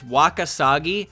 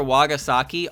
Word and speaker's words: Wakasagi: name wrong a lot it's wakasagi i call her wagasaki all the [ __